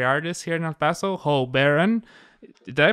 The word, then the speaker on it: Ho Baron: And here we're in the house of the extraordinary artist here in El Paso, Ho Baron. Did I pronounce that right, bro?